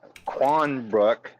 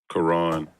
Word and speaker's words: Quran: a scripture from that Quanbrook. And yes, I mispronounced again. Yeah, the corn. The corn. I love it. Quran. I think that's what they call it, right?